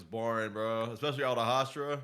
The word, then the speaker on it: Hashira: Especially all the Hashira.